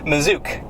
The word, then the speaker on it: Masuch: Massuk. It is a little bit odd. It's But there's like a zed sound in there.